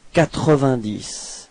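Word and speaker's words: quatre-vingt-dix: Okay, so try to pronounce it like a whole word without making any breaks, you know. 90.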